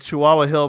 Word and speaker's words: Chihuahua Hill: it I was like how do you pronounce that and she sent me a note back like with a real puzzled like the dog like chihuahuas you see it written